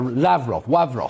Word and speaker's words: Lavrov: mr rav ross lavrov now i'm pronouncing it in the russian way where lavrov sorry he says he